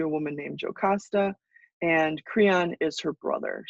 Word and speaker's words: Creon: pronounce okay then there's cron Creon is edus brother-in-law edus is married to a woman named jasta and cron is her brother so cron not crayon like somebody wrote on their test once cron I will try